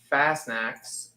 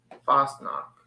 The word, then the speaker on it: Fastnacht: How do you pronounce that? Fastnacks. Fastnacks? No almond raspberry is the best. I like fruit ones too. But almond. Fastnacht.